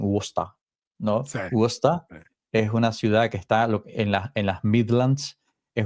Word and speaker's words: Worcester: O sea, ellos se escriben normalmente Worcester, pero tú sabes el suashismo Worcester. que tienen los británicos con el idioma, entonces ellos le dicen Worcester, ¿no?